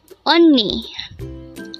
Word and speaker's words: 언니: on me only this composed of two syllables the first little voice on and the